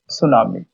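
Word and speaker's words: tsunami: টি সুনামি। ওকে। এইটিটা silent থাকবে।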